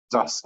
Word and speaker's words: thus: meaning of toss okay the pronunciation is dust right thus okay okay so uh